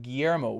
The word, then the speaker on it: Guillermo: And says, it's pronounced Guillermo. Right on, Guillermo. Yes, you guys, the L's, it's pronounced like pollo, right? Like chicken, pollo.